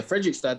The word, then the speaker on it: Fredrikstad: Because you started off at, again, pronunciation, but Fredrikstad, or like that team in the second division, right? Yeah, Fredrikstad.